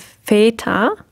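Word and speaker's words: Väter: long a sound and in the plural we have feta the umlaut which is also a lung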